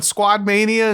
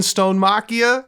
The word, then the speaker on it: Stonemachia: Squad Mania and Stonemachia? You cannot tell me. It's like parts of that word phonetically were close wrong.